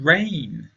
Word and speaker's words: reign: Long to reign over us. Reign is a verb. It sounds like 'rain' (water that comes from the sky), but it is spelt differently so please take care.